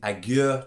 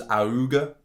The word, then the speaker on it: Augure: we go aguer 2.0 i think it is aguer that's how you pronounce it i thought it was auga at first but no